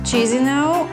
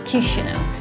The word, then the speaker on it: Kishinev: It's not Chisinau or Chisinau, it's Kishinev.